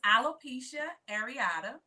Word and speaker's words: alopecia areata: what is it called because i tried to pronounce it i said i'm a little come on yeah so it's alopecia areata it is an autoimmune disease it causes one's